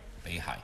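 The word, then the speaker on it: 北海: painting by Chao Jinping called One Day in Beihai. I think I said it right, Beihai.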